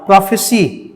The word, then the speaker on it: prophecy: ध्यान से, ये जो वर्ड है PROPHECY, प्रोफेसी, ये नाउन है, ठीक। और PROPHESY, प्रोफेसाई। Please listen to the pronunciation carefully, what I am saying.